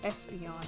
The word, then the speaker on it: Espeon: Pronounced Espeon, like the Pokemon.